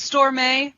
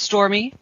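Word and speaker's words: Stormé: delavary yes it is it looks like it's storm a but she did say it's stormy and it's got the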